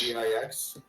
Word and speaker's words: Dix: D-I-X. It's French for 10. Dix. Oh, really? Pronounced D.